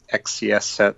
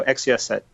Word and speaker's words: XCSSET: I've heard people pronounce it XCSSET, so I'm going to go with that.